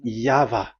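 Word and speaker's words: Yahweh: explanation but that is the phonms the pronunciation pronunciation is equal V. It is V. Y H VH. So it is Yava.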